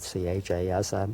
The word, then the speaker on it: chasm: And he said, spell that. So I spelled it C-H-A-S-M.